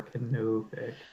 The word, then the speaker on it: canopic: It's how the O is pronounced that is. Canopic or canopic.